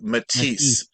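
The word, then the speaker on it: Matisse: and also real quick the pronunciation of those two um French impressionist artists is Paul saeson and Henry matis uh my mom would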